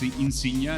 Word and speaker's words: Insignia: founded Insignia venture capital I pronounce it the Italian way it's Insignia is that correct right